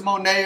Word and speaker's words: Monet: Now, I thought if it was Monet, it would be M-O-N-E-Y. But it's a T. No, Monet like the painting.